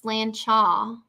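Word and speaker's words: sláinte: here we go uh slanted pronounced slan cha slan cha means health or cheers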